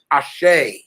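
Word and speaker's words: Àṣẹ: it a a-s-h-a-a-a-s-h-a-y because that's the female phonetic pronunciation but it's actually spelled a-s-e accent ashay okay did you get what i said i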